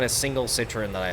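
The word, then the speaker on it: Citroën: and then uh Citroen but the way I say Citroen is like Turin because I think they're all dog there's not a single Citroen that I like why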